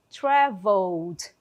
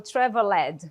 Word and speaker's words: traveled: Ó, observem que eu não falo a letra ali, o último E, eu não falo traveled, fica até feio, né? Então, traveled, traveled, é assim que eu vou pronunciar esse verbo.